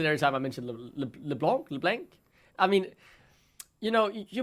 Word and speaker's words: LeBlanc: I am Danish, and the way I pronounce the A in Danish is different than what you do in the UK, and that is what leads to the mispronunciation of the champion.